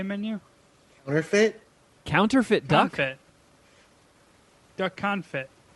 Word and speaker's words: confit: counterfeit duck duck confit am i saying it right i mean it's pretty you're much closer to it this time you added a an eye to it the last time a couple of times and said kind of